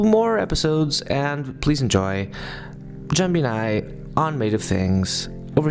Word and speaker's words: Jambinai: So if you could please, how do you pronounce your names like correctly? Because I know nothing about Korean. Jambinai. Jambinai.